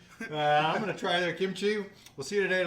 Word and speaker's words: kimchi: coming in absolutely and i've always called it kimchi but i'm saying it wrong no it's perfect because you guys say more like kimchi it's it's a mix it's a mix of the g and the k but i think you've